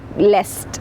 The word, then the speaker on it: lest: most enjoy contented lest now that is to be pronounced lest though it means least it is to be pronounced lest okay all right so